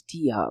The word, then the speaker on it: Teia: And finally, the third decentralized app on Tezos is TIA, which is spelled as TEIA, and if you look